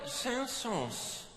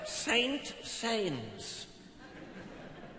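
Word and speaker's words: Saint-Saëns: beautiful work tonight by camille sansos he he spelled saint sayings and on classic fm he still pronounced that way but we know better don't be possums especially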